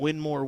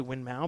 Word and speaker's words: Winmau: somebody's calling me out for my double duel winmore winmau compliment and that's true I did I